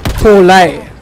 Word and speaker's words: Poli: So, my cousin, her surname is Poli. Nah? Now, when you look at the spelling and the grammar, it's actually pronounced Paulay.